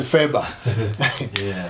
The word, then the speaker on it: FRBR: of bibliographic records, Records, which we write usually in short as FRBR, or some of us pronounce it in short as FEBA.